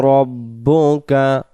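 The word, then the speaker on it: رَبُّكَ: রাব্বুকা পড়লে র অক্ষরটা র না হয়ে রা উচ্চারণ হচ্ছে।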